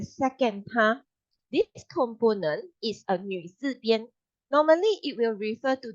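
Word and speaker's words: 女: is f last is the pronunciation of new will be like uh you try to say me but you Curve Your lipes when you say and then you Curve Your Lips okay so you may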